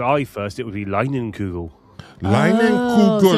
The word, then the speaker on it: Leinenkugel: Yeah, but who's But the name of it, I don't know how to pronounce that name. Lienenkugel? It's LEINENLIUGELS. Why would you even try? Oh no, that's K. KU. Leinenkugel. Leinenkugel.